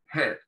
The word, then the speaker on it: head: Entonces, head, cabeza, ¿sí? Ahí la H suena, como les dije, similar, no es el mismo sonido que nuestro, similar a una J muy suave, y la A no se pronuncia, ahí, head, ¿sí?